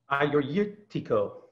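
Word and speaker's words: Agiorgitiko: always tongue ties everybody you kind of have to not look at it when you say it just listen I or II think I you ready to go are you Tico I struggle with that one it's hard man is thank George in English but I your ichiko people soon once told me to I your your Tico I'm not quite right it's gonna start though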